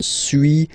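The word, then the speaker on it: suis: okay so first one Su as you've been noticing you don't pronounce the final s okay and for two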